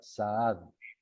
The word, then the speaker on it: Zaad: Mi apellido, que es con doble A, se pronuncia Saad.